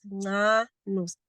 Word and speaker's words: Nanus: So my surname is pronounced as Nanus, Nanus.